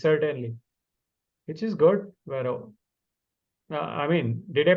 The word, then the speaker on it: Vero: Vero. I mean, did I pronounce it correct? Yes. Vero.